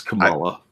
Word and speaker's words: Kamala: It's Kamala. I've heard it Kamala, and I kind of like that. So I'm calling her Kamala.